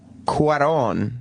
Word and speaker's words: Cuarón: Eric Weber of NECN writes, as Cuarón, that's how you say his name, the director, as Cuarón spells out in his intro, life in space is impossible.